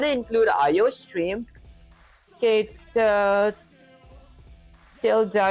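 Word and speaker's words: tilde: Tilda is the pronunciation. Oh, Tilda. Oh, so it's not title, it's Tilda.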